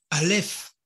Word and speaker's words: Aleph: Mais Aleph se prononce. Alors, la prononciation de Aleph, c'est un silence.